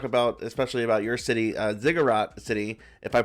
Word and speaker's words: Zigurat City: And I want to talk about, especially about your city, Zigurat City, if I pronounced that correctly, right?